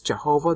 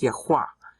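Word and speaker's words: Yahweh: it's the sacred tetral griton people think it's Jehovah that's a bunch of baloney the actual spelling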